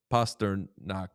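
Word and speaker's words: Pastrnak: Is it Pastasternac? Is it Pastor Knack? And he was like, Pastor Knack.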